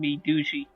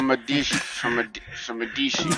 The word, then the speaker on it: Medici: I had a really awkward pronunciation once, and I accidentally called him Medushi. Oh wow! So Medici.